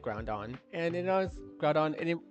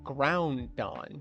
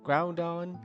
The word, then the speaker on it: Groudon: But yeah, I like Groudon, honestly, I've actually been mispronouncing it pretty much my entire time when I was a kid. I always thought it was pronounced Groundon, because it's a ground type. It's the dawn of the ground.